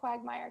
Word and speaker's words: QWGmire: And so we pronounce it QWGmire because we're a problem.